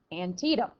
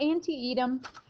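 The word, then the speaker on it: Antietam: bloody day at antium that's right antium that's how you say it not anti-ed antium it's in Maryland remember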